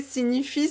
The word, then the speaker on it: signifie: Donc ça, vous voyez, signifie, c'est un mot que j'utilise beaucoup. Signifie. On prononce comme N.